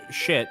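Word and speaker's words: Schiit: They do have a halfway decent joke about how it's actually a German word and it's pronounced shitta, and then they're like, no, that's not true. It's just pronounced shit.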